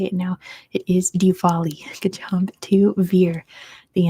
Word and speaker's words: Diwali: Lights better known I did double check the pronunciation of this and I do know how to say it now it is Diwali good job to Veer the answer is Diwali